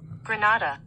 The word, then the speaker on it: Grenada: Anyway, let me get the proper pronunciation of Grenada. On the enunciator. Here we go. Grenada.